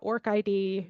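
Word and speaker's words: ORCID: today um for the Orchid and if you're in South Africa I think people typically say uh orc ID you may spell it out in any case um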